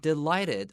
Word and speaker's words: delighted: And then look at the word delighted. 这个 GH 也没有发音，画一个叉叉 so we don't say delighted.